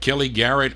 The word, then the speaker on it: Kelly Garrett: Kelly Garrett on the Ava record label. That's how you pronounce it.